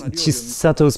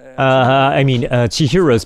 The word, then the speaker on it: Chihiro: So at 9 minutes, Chisato's parents, Chihiro's parents, I keep saying her name wrong, while her parents eat